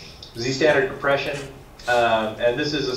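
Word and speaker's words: Zstandard: ButterFS and SquashFS added support for ZStd, I think I pronounce it Z-standard, but Z-standard compression.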